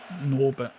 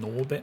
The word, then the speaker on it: Norbert: He said, Norbert. But then the way Takahashi pronounces it, it sounds like he's saying Norbit, and I'm like, you can't call him Norbit, mate.